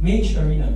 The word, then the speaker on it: Mage Arena: And how do you pronounce Margarita again? Mage Arena. Mage Arena. Sorry. No, I read it as Margarita and I'm stuck in my head.